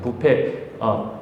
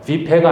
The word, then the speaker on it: 부패: 수가 있습니다 부패에서 부패에서 그죠 부패 뷔페가 아니고요 부패 발음이 좀 이상할 수 있는데 저기 하비스트 부패가 아니고 부패 부패에서 파멸에서 구원하신다라는 의미는 지금도